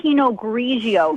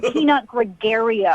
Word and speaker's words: Pinot Grigio: You don't even know how to say Pinot Grigio. It's not Peanut Gregario.